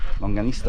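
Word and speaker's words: longaniza: Longanista? Longanista, I said it right the first time.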